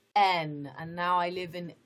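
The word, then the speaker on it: Aisne: n n a i s n e is pronounced n and now i live in n young so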